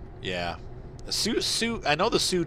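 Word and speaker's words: Sault: me it sounds yeah Sue Sue I know the Sue tribe but that's not the same Sue St Marie is not the same as the Sue tribe and it's spelled differently um yeah s Sous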